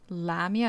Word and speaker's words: Lamia: Lamia is how it's most often pronounced.